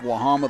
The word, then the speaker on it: Wahama: Again, it was two outs and a runner at first and then three straight singles helped give Wahama the lead. That is the way our name's pronounced, Chris.